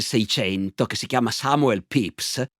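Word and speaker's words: Pepys: che si chiama Samuel pips scritto pepis Io ho scoperto adesso che si pronuncia pips comunque Samuel pepis che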